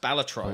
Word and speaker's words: Balatro: of players U balatro which I found out the other day is pronounced balatro I was like whoa